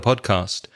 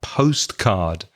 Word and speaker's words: podcast: or I like the podcast and be careful again of the pronunciation of podcast when Spanish speakers say that word podcast sometimes it sounds like postcard it's pod p OD pod cast so try to separate